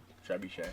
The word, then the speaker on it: trebuchet: Trebuchet. I know it's pronounced trebuchet.